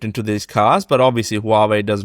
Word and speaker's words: Huawei: group owned by it's is partly owned by Hawaii I can't even say Huawei Huawei and car manufacturer Sears nice easy